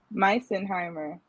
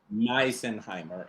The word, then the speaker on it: Misenheimer: Misenheimer. Misenheimer.